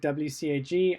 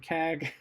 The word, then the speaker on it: WCAG: web content accessibility guidelines i always pronounce it wcag i don't like saying kag because it just sounds weird to me even if you're a